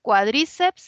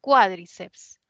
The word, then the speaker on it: cuádriceps: palabra no esta palabra Cómo se pronuncia cuadríceps así como bíceps y tríceps o sea lo lleva en la i o es más bien cuádriceps no cuádriceps cuádriceps no